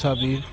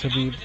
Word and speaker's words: Khabib: His name is Habib. K's pronounced with H's in his, or the K's silent. Apparently his real name is pronounced Habib Nurmagomedov. Oh wow.